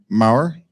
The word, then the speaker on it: Maher: Is that how you pronounce it, of Mastercoin? Maher, okay.